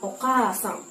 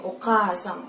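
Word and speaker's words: おかあさん: Contohnya misalnya dalam kata oka sang. Jadi, k-nya itu kan panjang o ka a. Jadi, oka sang tinggal dibaca panjang.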